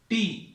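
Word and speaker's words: τ: टी जैसा आप बनाते हैं उसको थोड़ा सा कर्व कर देना. So this is pronounce as, इसको कैसा प्रोनाउंस करते हैं? टॉ.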